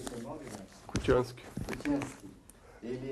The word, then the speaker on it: Kutianski: Como pronuncia o seu nome, Laércio? Kutiansky.